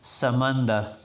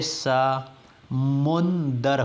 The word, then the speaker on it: سمندر: Video شروع کرتے ہیں۔ آج کا کلمہ ہے سمندر، جس کو علام العلت میں سمندر ہی پڑھا جاتے ہے۔ درست تلفظ مع اعراب تو سین پر فتح ہوگا یعنی سا، میم پر ضمہ ہے یعنی مو، نون جو ہے وہ ساکن ہے اور دال پہ فتح ہے، تو اس ترتیب سے سمندر ہو گیا۔